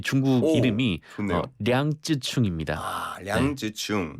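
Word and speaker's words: 楊紫瓊: 이분의 원어민 발음이라고 할까요? 이제 중국어, 예. 이 중국 이름이 좋네요. 량쯔충입니다.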